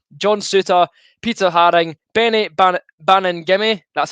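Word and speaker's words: Baningime: got michael smith john souter peter harring benny bannon gimme that's how you say his name bannon gimme sorted i was calling benny benny bannon gimme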